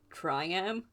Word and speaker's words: Triam: me beating I think his name is pronounced triam it's t r i a m and so he